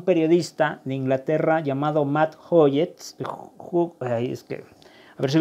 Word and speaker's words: Hughes: gracias a un periodista de Inglaterra llamado Matt Hoyes, es que, a ver si lo pronuncié bien, Hoggis o Hoyes, como le quieran decir. Bueno, les voy a dar la pronunciación, es Matt Hughes, ¿no?